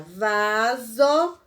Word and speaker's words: vaso: Segundo a regra ortográfica, quando aparece S entre duas vogais, a pronúncia será de Z. Então, observe, ó, quando a gente faz a palavra vaso, Observe que aqui tem uma vogal e aqui tem uma vogal.